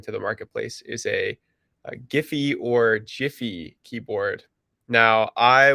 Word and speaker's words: Giphy: So I was a GIF pronunciator, and unfortunately, I have to say that when speaking with the Giphy team, it is Giphy.